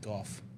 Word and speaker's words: Gogh: His name is actually pronounced Gough. Mm-hmm. It's like Jeff with a PH and a G.